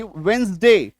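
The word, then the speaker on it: Wednesday: डब्ल्यू ई डी एन ई एस डी वेडनेसडे इसको वेडनेसडे नहीं बोलेंगे। वेडनेसडे डी को काटो।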